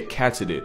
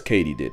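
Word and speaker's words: katydid: completely butchered that word turns out it's Katie did as in did Katie do it yes Katie did I'm gonna mispronounce it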